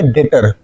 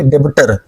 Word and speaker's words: debtor: डी ई बी टी ओ आर यहां पे B silent है। तो इसको क्या रीड करेंगे? डेटर। क्या रीड करेंगे? डेटर ना कि डेबिटर।